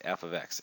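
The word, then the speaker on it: f(x): all right you read you say this okay as f ofx f ofx that's how you say it so everybody say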